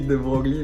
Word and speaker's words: de Broglie: écrit de Broglie, mais Ouais, ça mais se on dit prononce de Broglie.